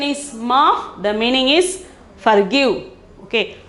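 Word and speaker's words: माफ़: Okay, the 91st is maaf. The pronunciation is maaf. The meaning is forgive. Okay, pronunciation is maaf.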